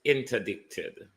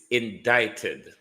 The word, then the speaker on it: indicted: returned after Jamaica not stop it it's not interdicted it's indicted indicted prime minister repeat after me indicted say